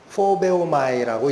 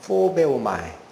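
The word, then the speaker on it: φοβέομαι: 포베오마이라고 읽습니다. 포베오마이.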